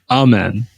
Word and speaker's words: Amen: at two to the Hornets then you have Amon Thompson or is it amen amen amen Thompson amen amen okay I have a friend named Iman so